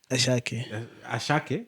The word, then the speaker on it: Asake: know if you've seen asake who's a shark yeah that's how you pronounce it yeah like you can